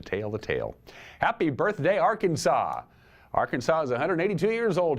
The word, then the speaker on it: Arkansas: is illegal it is prohibited by law to mispronounce the name of Arkansas it's Arkansas not Arkansas they actually have a law Jude 1518 46